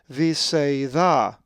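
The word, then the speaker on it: Βηθσαϊδά: Here, the accent is over the second alpha, not the accent of the iota in the alpha iota diphthong, but the alpha with a single dot is the letter that takes the accent. Veeta.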